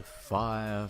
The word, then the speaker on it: Fyre: Fire promised beaches, ladies. Oh, it's pronounced fire.